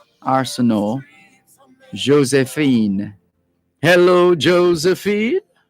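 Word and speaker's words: Arsenault: a wonderful weekend josephine arsenau josephine is a french name and so too arsenal are a-r-s-e-n-a-u-l-t you wouldn't pronounce the t arsenal josephine hello josephine how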